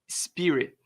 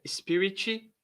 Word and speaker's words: Spirit: tá escrito aqui ó Spirit não é não é Spirit não tem nenhuma vogal antes do s e nem depois do T se você conseguir pronunciar isso aqui desse jeito aqui ó Spirit vai ser um avanço